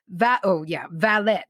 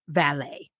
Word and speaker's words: valet: Valet is pronounced valet in English, not valet.